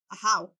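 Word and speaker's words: Ajaw: it as e in the game but they pronounce it a how that's a correct pronunciation and I was very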